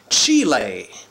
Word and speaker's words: Chile: coming to you from Chile or as the locals say Chile this town and it's